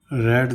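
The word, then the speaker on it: read: I have रेड this book twice, मैं पुस्तक 2 बार पढ़ चुका हूँ।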